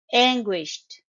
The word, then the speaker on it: anguished: and defeated anguished anguished it's a two syllable word the stress is on the first syllable you stress the first syllable and as you can notice in the phic script the sound is not ending with D sound it's ending with t sound as in t anguished if you want